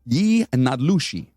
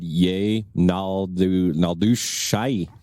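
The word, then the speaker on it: yee naaldlooshii: And I actually looked up the pronunciation for that, and I got that shit right. That's actually how you say it? Yi Nadlushi. I would have said yay Naldushai. Right. That's not it.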